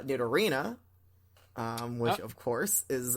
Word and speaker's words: Nidorina: __ ] me uh that would be nito nito or none uh i don't know that was a weird accent that you put on there uh but i'm gonna assume that you meant to say uh did arena um which of course